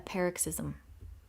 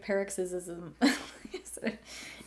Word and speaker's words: paroxysm: emotion or activity a paroxysm cool I mean I I feel like I knew what that meant from Context but I I said it wrong I was like peric ISM anyway the magic of